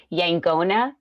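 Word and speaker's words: yaqona: I just want to say one point Matthew Oconor educated us at one point that it's actually pronounced yangona.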